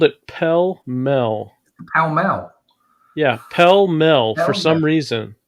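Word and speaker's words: Pall Mall: Filter tipped, pell-mell, packaged in gold. What did he call it? Pell-mell? He called it pell-mell. Pell-mell? Yeah, pell-mell for some reason.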